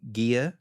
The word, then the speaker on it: Gia: He's married to a lady named Gia. That's how it's pronounced.